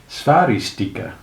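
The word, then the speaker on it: Sphairistike: Did it rhyme with spike and stari stike, or with piquet? In fact, it rhymed with sticky, but nobody knew that.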